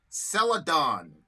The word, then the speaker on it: Celadon: So it's Celadon. That's how you pronounce it.